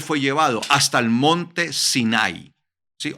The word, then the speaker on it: Sinai: Hasta el monte Sinai, ¿sí? O Sinaí, como se dice en español, ¿sí? Sino que la pronunciación en hebreo es Sinai, Sinai.